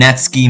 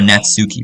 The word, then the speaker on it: Natsuki: new member, and Natsky made cupcakes and everything. I used to call her Natsuki, bro. Her name is Natsky. That's how you pronounce it.